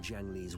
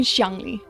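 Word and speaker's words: Xiangli Yao: I also not correct it should be shangi uh X is always an sh sound yes it doesn't take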